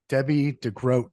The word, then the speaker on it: Debbie De Grote: agents podcast and today I am joined by Debbie degroat first of all Debbie did I pronounce that correctly you did yeah well uh